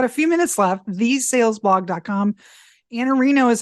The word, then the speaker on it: Iannarino: Iannarino is how you pronounce it, but your Twitter is IANNARINO.